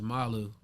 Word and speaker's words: NMALU: are like us but the acronym is pronounced malu and um once people